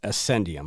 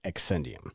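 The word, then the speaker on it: Accendium: I really botched that one last week cuz I'm so used to it's spelled ACC but it's pronounced like A S S E N D so Ascendium. I kept saying Exscendium.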